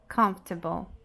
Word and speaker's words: comfortable: E essa palavra é comfortable. Comfortable. Então, nós temos a nossa primeira sílaba mais forte. Come, come, come. F, f, f. T, t. Bow, bow. Comfortable, comfortable.